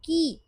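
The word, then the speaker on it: こう: लेकिन आप इसको प्रोनाउंस क्या करोगे? आप इसको को प्रोनाउंस नहीं करोगे। आप इसको को प्रोनाउंस करोगे। को लॉन्ग साउंड होता है ये।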